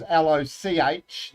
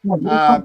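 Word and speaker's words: Lochore: The Lahore Cup is spelled Lochaore, not Laohre. So don't want to pull you up on that, but I am a Wairarapa Bush guy. It is Loch, not Lah.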